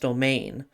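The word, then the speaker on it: demesne: The way domain was spelled in Crusader Kings 2, it has been assured that it is pronounced domain. But it was spelled in the French way.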